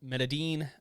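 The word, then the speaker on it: Medellín: about the colombian cartel well you got the medean uh and the uh cali cartel which is the uh well the melody is how you pronounce it yeah that is by the the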